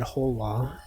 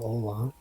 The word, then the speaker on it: hola: When you misspell Halo as Ola, John Ola, Juan Hola, Hola. I said Hola. I said the word wrong. He said Hola instead of Ola.